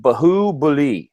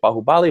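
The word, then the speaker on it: Baahubali: like three weeks ago you probably called this movie like bahoo buly or something you know you sounded like Mushmouth and then by the third week you have like you are phonetically correct in pronouncing all of these you're just like bahubali bahubali so kudos to you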